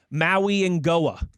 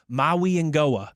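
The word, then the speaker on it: Mauigoa: Francis Maui Ngoa, I believe is how he pronounces it, according to, again, the University of Miami pronunciation guy. Maui Ngoa, Francis Maui Ngoa, offensive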